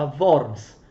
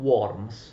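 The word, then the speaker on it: Worms: alla città di vaughan attenzione è una città tedesca si pronuncia awards non non world ok concordato di bonus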